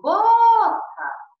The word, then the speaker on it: boca: Então, é o caso da boca, que eu falo boca. Não falo boca, falo boca. A palavra fechada, ó, fechada.